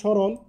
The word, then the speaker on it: স্মরণ: শব্দের আদিতে যদি ম ফলা থাকে, তাহলে এর উচ্চারণ হবে না। যেমন শব্দের শুরুতে এখানে স্মরণ, লক্ষ্য করো এখানে ম ফলা আছে, এই জন্য ম ফলা উচ্চারণ হয় না, এখানে তালবস্য হয়ে গিয়েছে।